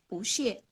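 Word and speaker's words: 不谢: Nah, terima kasih kembali kita bisa menggunakan kata xie juga, yaitu bu xie. Ya, saya ulang. Saya. Pu. Oh, oke. Ya, pada ejaan B dan U kita akan membacanya dengan pu. Bu xie.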